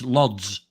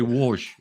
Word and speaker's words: Łódź: Yeah, the place I went to was Łódź, which is spelt Lodz. So to me, it reads Lodz. Yeah, the L with the line through it, right? Yeah, so it's actually Łódź.